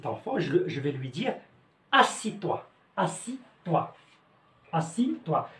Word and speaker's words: assieds-toi: je vais lui dire assis-toi assis-toi assis-toi. شوفوا الكتابة ديالو راه مختلفة، ولكن النطق ديالو كيكون غير اسي. assis-toi. لاحظوا مزيان، اسي زدنا هنا اي او دي اس، هادو كلهم بحال ما كيتقراوش. سي بون.